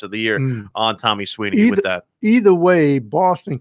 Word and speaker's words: Sweeney: And what if Tommy Sweeney catches a winning touchdown pass to beat Dabo Sweeney? It'll be it's different spelling. But it's pronounced the same.